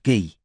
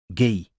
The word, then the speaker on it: Guy: samay he's a designer it's pronounced ghee said Robin what his Christian name it's pronounced the French way ghee all right well could